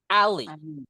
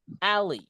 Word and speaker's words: alley: Lane or just say alley. Alley. Itu ya bacanya.